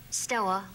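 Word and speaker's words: store: How do you pronounce S-T-O-R-E? Stoa. Yeah, stoa. Yeah. See, in Mississippi, they say stoa. Stoa. Going to stoa. Yeah. It's just S-T-O, period.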